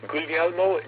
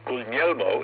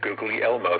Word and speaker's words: Guglielmo: To set the record straight, our Marconi has never been Googly Elmo, so please stop calling him that. The letter G in the middle of an Italian word is not pronounced as it is in English.